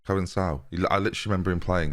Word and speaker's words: Conceição: Conceição is there, or Coensao, which I know is how you say it, and I don't know why.